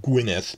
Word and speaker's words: Gwynedd: I already mentioned that the county, the mainland county they're filming on is pronounced Gwynedd because of the double D thing.